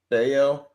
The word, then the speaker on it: Bello: the rookie tomorrow uh what's his name brian baio bao yeah dale i think it's pronounced like that um and he throws cheese